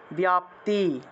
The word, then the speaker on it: ব্যাপ্তি: ব্যাপ্তি, বয়ের সাথে জফলা আছে তাহলে উচ্চারণ হবে ব্যাপ্তি।